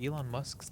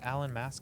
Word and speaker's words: Elon Musk: They say that when Donald Trump first heard Elon Musk's name, he mispronounced it. Who's this Alan Mask guy everyone's raving about?